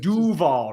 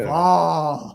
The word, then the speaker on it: Duval: Like he emphasizes the wrong Yes. phrase. It's It's just- Duval, not Yeah. Duval.